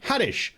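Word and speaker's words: Haddish: lip bird and Tiffany hadish whose name rhymes with radish coincidence yes uh here's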